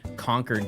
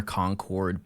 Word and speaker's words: Concord: And I know that they're concord, but I'm so hardcoded to say conquered as in like I conquered a castle or something. That's just how they pronounce it where I'm from.